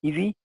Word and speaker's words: ESII: The next level of evaluation for some projects is the Ecosystem Services Identification and Inventory Tool, pronounced by its ESII acronym as EASY.